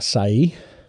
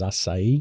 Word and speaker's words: açaí: The best ones are açaí. You know the C with the little thing underneath. It's pronounced as açaí, whereas most people say açaí.